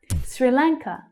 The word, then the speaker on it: Sri Lanka: Sri Lanka. Sri Lanka. Sri is unstressed, so it's quite short and low in pitch, but our main syllable, the stressed syllable, is lang.